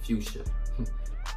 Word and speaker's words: fuchsia: 1 mid fusion cyber oh my fuchsia i should say fuchsia that's how you say it hey these joints was